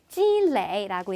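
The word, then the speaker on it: 积累: 이렇게 저걸 레이라고 읽으시면 제 단어에 피곤하다라는 뜻이고 찌레이라고 얘기하면 쌓다라는 뜻입니다.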